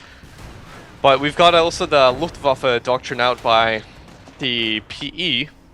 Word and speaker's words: Luftwaffe: Luftwaffe. Luftwaffe, I know it's difficult. Yeah, It's okay. because Whenever there's a W, whenever you see a W, just Okay. make sure you pronounce it as a V.